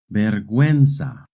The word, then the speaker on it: vergüenza: In Spanish, when a word has GUE or GUI, the U is silent. But if the U has a diéresis, then you do pronounce the U.